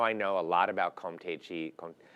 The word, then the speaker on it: Comté: And now I know a lot about Comté cheese. You say Comté, but in French you say Comté.